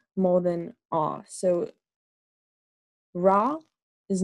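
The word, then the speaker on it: ら: So to pronounce it, really, I say it almost like ra, la, la, la, la. Like if I were to say la, la, la, la, it's very similar to L, more than ah.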